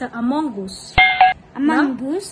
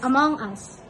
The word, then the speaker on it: Among Us: to play among us is that the correct pronunciation yeah because there's a lot of people who say us me too i thought it's a mongoose no that's not it's among us yeah you want to